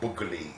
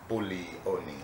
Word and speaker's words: Buglioni: So, the G, it's not Bugli, it's Buglioni.